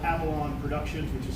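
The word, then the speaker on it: Afallon: And then I got this job in 2014 with this company that's called Avalon Productions, which is spelled A-F-A-L-L-O-N, so it looks like A Fallon or Avalon or something else.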